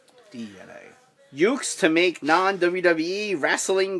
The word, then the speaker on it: DeNA: It's also DNA is the pronunciation. I know it says Dina, but it's DNA.